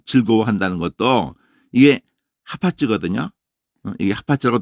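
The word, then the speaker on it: חפץ: 이게 하파츠라고 돼 있잖아요. 이게 헤프츠 이렇게 했는데 헤프츠 이랬는데 하파츠예요. 무조건 아으 발음하면 돼. 다 잊어버려도 돼. 그냥 하파츠 그러면 돼요.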